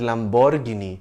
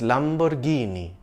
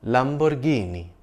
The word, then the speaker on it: Lamborghini: it being pronounced as Lamborghini but it's Lamborghini it's an Italian brand and that's how Italians say it Lamborghini it's named after its